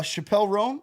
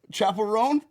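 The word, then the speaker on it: Chappell Roan: And look, Phyllis got us uh Chappelle Rome. Is that how you say it? Chapel Ron. Chapel Ron.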